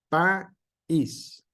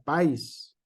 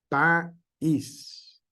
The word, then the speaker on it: país: escribimos la palabra país eso nos corta el acento nos corta este la pronunciación y dice país si no llevar acento dijera país y se pudiera pronunciar en una sola sílaba todo pero nosotros hacemos esa pequeña pausa ahí porque es la pronunciación correcta y le damos el énfasis a la segunda este vocal que es una vocal débil país sale va un reír